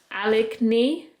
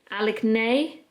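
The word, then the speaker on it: Aligne: every single day since the brand i believe is pronounced alec knee alec nay a-l-i-g-n-e i rarely use the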